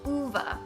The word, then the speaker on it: Ove: ok the next book is a man called ova that's how you pronounce a man called by Frederick Bachmann ok